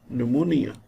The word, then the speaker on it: pneumonia: silent in autumn him p is silent in psychology pneumonia this is another word another